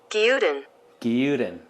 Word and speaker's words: Gyudon: that's quick and super easy ramen's favorite cousin guidon good good on hey google how do you say japanese beef rice bowl here are some recipes i found no how do you say it that's pronounced no gildan the japanese beef rice bowl that you always